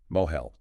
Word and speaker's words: mohel: Moel. A moel, that's spelled m o h e l, is a person, a human being.